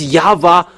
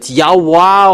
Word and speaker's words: Yahweh: How to pronounce this W? Is it Yahwa or Yahoo or Yava? And we know that it's Yava who takes people away from sins. But because you people were looking for explanation and it's that's why we look for their uh in uh this uh incyclopedia with we keep it there in Jewish they pronounce W into V.